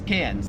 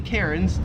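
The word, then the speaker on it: Cairns: name the cities and like say how it's pronounced. So yes, it's Melbourne and it's cans.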